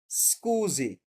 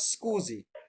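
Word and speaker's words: scusi: এটার উচ্চারণ কি এক্সকিউজ আমরা এসটাকে অর্ধেক উচ্চারণ করব স্কুজি ওকে আমরা পুরাটা এস বলব না যে আমরা স্কুজি মানে এক্সকিউজ ভেরি গুড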